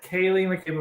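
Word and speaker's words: Ceili McCabe: Kaylee mccab yeah yeah Kay that's how you pronounce it Kaye mcab of West Virginia Kaye with a c CI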